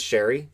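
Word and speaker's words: Sheary: uh connor sherry and it is sherry i know people always it's sherry why does it spell like he pronounces it sherry so connor sherry free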